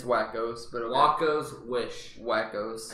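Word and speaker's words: Wakko's: Waco's Wish. It's Wackos, but okay.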